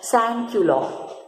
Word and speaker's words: sans-culottes: Okay, and the Jacobins who were wearing these kind of clothes, they were called as sans-culottes. These are these are French terminologies which needs to be pronounced in this manner only.